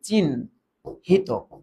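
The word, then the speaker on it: চিহ্নিত: এটা হবে আগে ন পরে হ তার মানে এটার উচ্চারণ হবে চিন হিত চিন হিত হ্যা এটা সাগত সাগত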